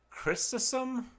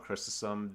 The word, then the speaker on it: Chrysostom: Chrysostom, I believe is how it's pronounced.